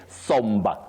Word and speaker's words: sombre: But that being aside, we say somber, somber, somber mood, somber, not sombre. Because some people find themselves innocently pronouncing certain English words as if they should be pronounced according to the spelling.